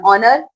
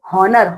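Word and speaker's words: honour: Honest man इट्स एन ऑनर okay क्योंकि यहां पे जो एच है ये आपका साइलेंट है ठीक है हॉनर हनेस्ट नहीं होता है ठीक है ऑनर ऑनेस्ट ओके समझ में आया क्यों आपने यहां पे एन लगाया है।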